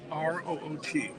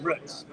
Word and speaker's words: Root: R-O-O-T. Pronounced Roots.